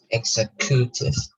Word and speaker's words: executive: The stress the syllable has to go front. Executive.